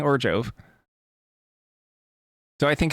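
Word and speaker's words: Orzhov: I'm not sure when, but I forgot where I got this from, but someone said that Orzov is not pronounced with a Z, it's pronounced with a J, like Orjov.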